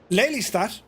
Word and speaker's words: Lelystad: our winner of the wford murf uh to pronounce it correctly leat Airport uh with thanks to Papa Hotel Dutch